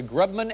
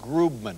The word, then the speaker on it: Grubman: eating your tea incorrectly I've heard it pronounced both ways as a Grubman and groopman which is a gremlin